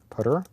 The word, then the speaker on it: ptr: 3, const t star putter, and then people complain when I pronounce ptr as putter, would you believe that?